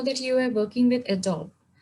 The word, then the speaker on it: Adobe: I mean, even employees call it When Adobe. I went for the interview, in my interview, I said Adobe, and then the director who was taking my interview said it's Adobe. He didn't even know how